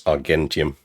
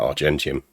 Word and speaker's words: Argentium: I will say how you pronounce Argentium was different. I've always heard it pronounced like Argentina is. That may well be the correct pronunciation. Again, what you're getting there is my Roman historian coming through, and my not great but occasionally passable Latin. In Latin pronunciation, G's are hard, so it's Argentium. Now, it actually might be a modern Italian that you call that Argentium, but old habits die hard.